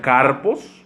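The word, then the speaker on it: καρπός: vienen de una palabra griega que se pronuncia car post y esto significa frutos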